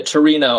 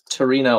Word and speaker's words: Torino: I've heard of Turin. the the city in um Italy of course, but Torino I guess is how you say it in Italian.